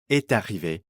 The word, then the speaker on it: est arrivé: We again get liaison here, so the final T of est is pronounced before arrivé. Est arrivé.